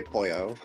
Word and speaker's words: Poyo: in Spanish but yes Kirby does say Poyo but it said the same way as chicken okay you know what really